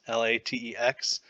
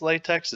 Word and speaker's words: LaTeX: form so that's some people say that latex l-a-t-e-x it's not pronounced latex it's pronounced latex it just kind of gives